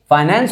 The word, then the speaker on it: finance: Sources of business फाइनेंस और फिनांस, both are the exact pronunciation. Pronunciation pronunciation both are correct, ठीक है।